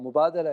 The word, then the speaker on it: Mubadala: we've heard you know ten versions of the pronunciation but Mubadala and arabic action means exchange so and that